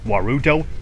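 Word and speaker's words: ワールド: there you have it the reason why world gets turned into warudo is not simply because they take the l out of the word but because one the l and r in the word are right next to each other and they cannot just add two r's in there so they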